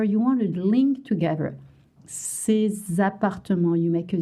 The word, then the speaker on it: ces: We don't pronounce the S.